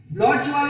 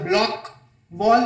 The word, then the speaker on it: Bloch wall: You can also pronounce it as block wall or Bloch wall.